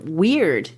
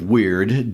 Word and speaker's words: wyrd: for fate there is this Anglo-Saxon term Wyrd, W-Y-R-D. This is another one of those cultural words that's worth taking a moment to think about. It sounds like the word weird, W-E-I-R-D.